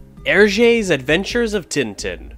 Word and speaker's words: Tintin: Hergé's Adventures of Tintin, or Tintin if you want to pronounce it the French language way.